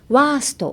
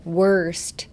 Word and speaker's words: worst: そしたら worst 結構早めに発音できるので worst じゃなくて worst 結構の発音が大切ですね。